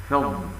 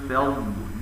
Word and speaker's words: فضل: كذلك تفخيم الفاء واللام في كلمة فضل والفضل، والصواب استفالتها هكذا: ألا يقدرون على شيء من فضل الله، وليس من فضل